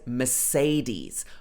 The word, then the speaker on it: Mercedes: So everybody always says Mercedes. I know this is not the correct pronunciation in Germany. It may be like something like Mercedes or something like that. But in the UK, we would say Mercedes.